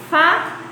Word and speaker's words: fada: Olha só quando a gente fala fada. Tá vendo como fá, ele tem um som mais forte? Então, o fá é a sílaba tônica dessa palavra. Tá?